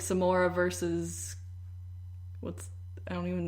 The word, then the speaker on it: Samara: anyway Samara doing here it's pronounced like some more I do it like